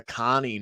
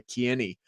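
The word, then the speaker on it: Kearney: it improve my pronunciation apparently it's Emma Cary not Emma KY according to the the commentary team so um you know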